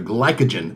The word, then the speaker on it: glycogen: They're glycogen. That's how you say it.